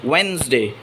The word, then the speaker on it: Wednesday: We don't have to say the first da in Wednesday. It is not Wednesday, it is Wednesday.